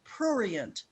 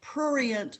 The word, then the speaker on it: prurient: And the word is prurient, P-R-U-R-I-E-N-T, prurient.